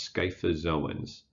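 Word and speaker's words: scyphozoans: are these things so this crazy word is pronounced sky fazil ones so these are the sky FFA's owns within the class sky fellas oh wow so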